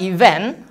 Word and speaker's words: event: Kata event, dia di suku kata kedua ada petik atasnya, apostrofnya. Jadi kita mesti menekankan di kata when-nya.